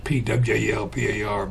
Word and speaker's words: Pwalpar: And some people can't pronounce Pwalpar, but that's how you say it.